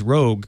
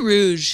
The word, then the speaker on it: Rouge: Is it pronounced Rouge plant? Or Roog? I don't know. I don't know, since none of the emails correcting me on how I pronounced it jokingly as Rogue could agree on how it's supposed to be pronounced. Say Rouge. I think it is pronounced Rouge.